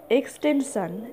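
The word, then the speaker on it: extension: ঘূর্ণন পরের ইংরেজি ওয়ার্ডটির উচ্চারণ হল এক্সটেনশন ই এক্স টি ই এন টেন এস আই ও এন সান এক্সটেনশন এর বাংলা মানে হলো আয়তন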